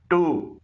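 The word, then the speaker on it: two: से निकल रही है टू इसमें भी डब्लू खामोश है और एराई इसमें भी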